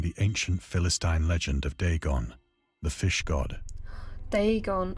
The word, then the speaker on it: Dagon: ancient philistine legend of dagon the fish god they gone okay good i nearly pronounced this correctly just too quickly dagon they gone like day gone okay day's gone there